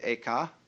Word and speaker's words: Eka: The second was named Eka, I'm using the Japanese pronunciation, who was formerly a general of the army.